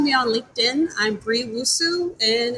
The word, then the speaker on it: Nwosu: I'm Bree Wusu, and it's a silent letter. So Wusu is NWOSU.